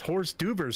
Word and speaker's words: hors d'oeuvres: I think it's pronounced horse duvers, sir.